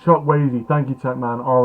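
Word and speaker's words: Chukwueze: It's pronounced Chuck Wazy.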